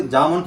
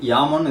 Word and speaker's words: Jamo: speaker system தான் எடுத்திருக்கிறோம் இத நம்ம சொல்லும்போது ஜாமோன்னு சொல்லி பழகிட்டோம் பட் உச்சரிப்பு படி யாமோன்னு இது வந்து நம்ம சொல்ற மாதிரிதான் நம்ம சொல்லணும் சோ இந்த யாமோ பிராண்ட்ல